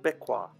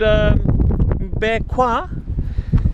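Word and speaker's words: Mbé Kouen: We're at another little island called MBE KOUEN, and the way that is spelt is MBE, MBE, and KOUEN, K-O-U-E-N, which I think in French would be KOUEN, MBE KOUEN.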